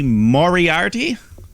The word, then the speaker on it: Moriarty: But in the meantime, Bobby Fish takes on Lee Moriarty.